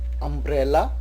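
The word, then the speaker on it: umbrella: शब्द का पहला अक्षर यू है पर उसका प्रोनाउंसिएशन अ है, जैसे कि अम्ब्रेला, अल्टीमेटम, अंडर कवर, अंड्यूलेटिंग।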